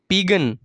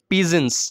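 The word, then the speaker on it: pigeons: মাউন্টেনস A flight of পিগন A flight of পিজেন্স উচ্চারণটা হবো এ flight of পিজেন্স okay এংগ্রি river angry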